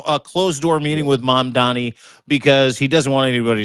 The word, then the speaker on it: Mamdani: Mom Donnie, that's how you say his name.